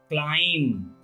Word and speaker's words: climb: The rule number first: when consonant B is silent, whenever B comes after M or before T, B is often silent. As CLIMB, climb, not climb.